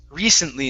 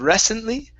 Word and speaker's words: recently: Here, this word is pronounced recently instead of recently.